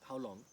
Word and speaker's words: Hauliang: From there, we are going to attempt to go to Howlong. It is written uh, Huil or Hauliang, but actually it is pronounced Howlong. But we also hear that